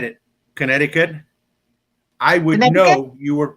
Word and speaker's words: Connecticut: like yes you know like connecticut not connected connecticut my connecticut not connect god and then arkansas i'm